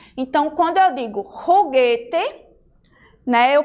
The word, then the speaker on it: juguete: Em espanhol, a letra J, ela tem um som parecido com o nosso R. Então, quando eu digo juguete, né, eu pronuncio o